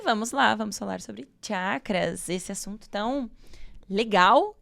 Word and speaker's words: chakra: A chácara. O termo correto é chakra.